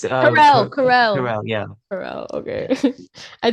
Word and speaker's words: Carell: It's, Carell.